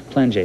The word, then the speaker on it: Plainguet: wanted to ask you, how does a guy whose name sounds Plainguet end up having it pronounced Plainguet? I mean, it's French. You ask my parents. It's just regular French pronunciation of right, your name?